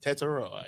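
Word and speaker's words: Tetairoa: Teteroa, yes.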